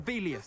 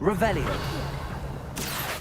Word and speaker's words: Revelio: You're Revelius. saying it wrong. Ugh, Revelia. Much better. Oh, shut up. Wait. Revelio.